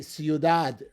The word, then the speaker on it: ciudad: Other words that will also end in a consonant that is not n or s would be ciudad, city. The stress is on the last syllable.